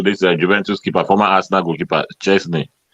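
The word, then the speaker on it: Szczęsny: Juventus performer Arsenal goalkeeper Chesney is how you pronounce it first name was that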